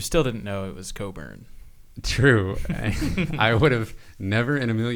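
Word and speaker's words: Cockburn: But you still didn't know it was Coburn. True. I would have never in a million years looked up the pronunciation guide for Kofi Coburn because the spelling seemed pretty straightforward.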